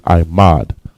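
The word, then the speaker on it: עמד: And the word for stand is imad. I, ma, and da. Imad.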